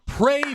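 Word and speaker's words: Praey: excuse me Monster Hunter pray for the gods that's it pray for the gods that game may have already come out um but it's spelled very weird it's p-r-a-e-y pray for the gods if you like um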